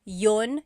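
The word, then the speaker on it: iyon: You might hear me saying yun yun as if there's no I and that's commonly how it's pronounced. You might hear people say but usually the letter I sound is dropped.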